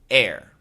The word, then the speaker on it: heir: H-E-I-R, air. H-A-R-E, hair. H-A-I-R, hair. So the first three are pronounced the same. A-I-R, E-R-R, H-E-I-R are all pronounced air.